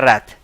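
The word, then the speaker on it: wreath: शरारती बंदा evil reputation हो जिसकी ए decorative ring of flowers and leaves इसको बोलते हैं रैथ। इसको क्या बोलते हैं? रैथ।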